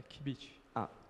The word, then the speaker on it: qubit: É a pronúncia assim mesmo? É qubit.